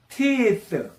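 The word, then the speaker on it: teeth: 티스 티스 티스 티스 투는 t로 발음하면 또 원투 할 때 투이죠.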